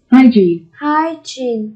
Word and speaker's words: hygiene: Hygiene. Từ này chúng ta đọc là gene. Hygiene, các em nhé. Nhấn âm tiết số 1, vệ sinh.